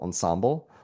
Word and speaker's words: ensemble: And for the life of me, my entire life, I've always had the stress on the second syllable, ensemble.